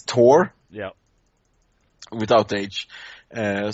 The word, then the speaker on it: Thor: yeah without age uh so for how we pronounce it this T oh okay yeah it's like uh uh I I play some Smite as well and they have t there and uh all the Americans pronounce him you know tear no it's not like a tear falling down your Chic it's tear